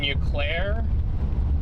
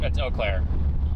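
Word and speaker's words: Eau Claire: You're in Uclair. Um, you guys or Oaklair. It's Oaklair.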